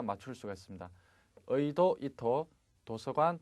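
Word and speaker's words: 意図: 자, 치즈, 지도할 때 도자 발음, 도자는 발음이 두 가지가 나옵니다. 즈라는 발음하고 토 두 가지가 나오는데 토로 발음 나는 것은 딱 두 가지만 기억을 하시기 바라겠습니다. 의도하다 할 때 이토 되겠죠? 그 다음에 도서관, 토쇼칸.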